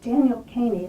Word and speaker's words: Kany: This new book, Travel Notes, Paintings by Henry Isaacs, was created by Kany. Is that how you pronounce your last name? Yes. Rhymes with zany.